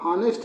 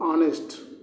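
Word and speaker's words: honest: ऑनेस्ट में एच क्या हो रहा है? साइलेंट हो रहा है। हम हनेस्ट नहीं पढ़ते। हनेस्ट पढ़ोगे क्या इसको? बताओ आप लोग। हनेस्ट पढ़ोगे ऑनेस्ट पढ़ोगे? हम इसको हनेस्ट नहीं पढ़ते। पढ़ते हैं इसको हम लोग ऑनेस्ट।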